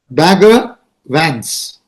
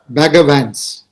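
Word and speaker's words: Bagger Vance: name the legend of bagavans. And when you say it in the American pronunciation, Bagavans, Bagavan, Bhagavan, you know, and he coaches a player by name Runa Arjuna, you understand?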